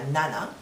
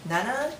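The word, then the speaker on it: 七: as you noticed uh for four and seven I used Yong Nana uh we don't use she and Sh for this part so when you use counters just uh use Yong and Nana usually because it goes uh it sounds better with counters okay and for the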